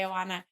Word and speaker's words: Oana: me how to say it the right way Anana they wrote a very in-depth article that made